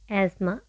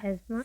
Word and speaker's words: asthma: Asthma. Asthma. Asthma. Asthma. We don't pronounce the th there. Asma.